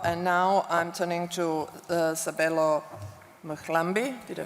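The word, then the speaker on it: Sabelo Mhlambi: And now I'm turning to Sabelo Mkhlambi. Did I pronounce it properly?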